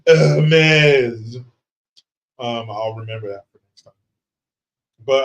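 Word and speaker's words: Hermès: they're hurting we're winning Hermes oh excuse me Nicholas hardic says it's pronounced heres um I'll remember that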